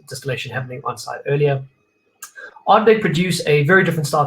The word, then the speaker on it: Ardbeg: Just to be clear, there is no R. It's not Ardbeg. Ardbeg, often mispronounced, particularly in South Africa, I find, because of